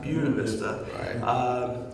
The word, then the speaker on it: Buena Vista: african-american men from the town of Buena Vista or if you're from this region they pronounce of Buena Vista and in the 70s